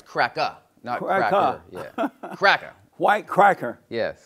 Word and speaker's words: CRACKA: so i got to talk about your movie cracker when you said cracker are you talking about white cracker yeah yeah and you're going to say it right it's crack up yeah cracker white cracker yes amazing and so